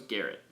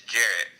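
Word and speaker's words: Gerrit: a Jared or Garret I always thought was Garrett it's Jared alright I know how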